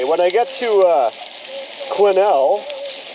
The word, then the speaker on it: Quesnel: I get to uh quinel yes is silent BC to dereck's place